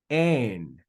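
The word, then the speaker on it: ἦν: So this word is going to be pronounced ein.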